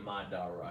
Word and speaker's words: Madara: person right here says I say in Madara yeah because that's how they I mean that's how they pronounce it in the show but but his character